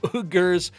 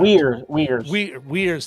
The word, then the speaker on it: Uyghurs: government at a time they've got all those, Uyghurs. Oh, I'm mispronouncing that. Uyghurs.